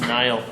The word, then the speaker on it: Neal: It's pronounced Nile.